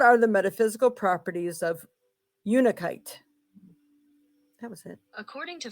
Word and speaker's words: Unakite: What are the metaphysical properties of Unakite? Not kite, no. What are the metaphysical properties of Unikite?